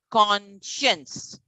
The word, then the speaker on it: conscience: con c o n con science s-c-i-e-n-c-a conscience you're adding signs only to con but you're pronouncing it as conscience now commission what is